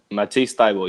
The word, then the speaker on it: Matisse Thybulle: Matisse Thybulle, yes.